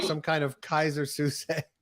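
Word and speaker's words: Keyser Söze: He's single-handedly orchestrating the Bears like some kind of Kaiser Suse. How do you say that? Kaiser Sose, I think. That's it.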